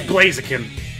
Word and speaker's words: Blaziken: look like lazy kids no say it right it's Blaziken it's also known as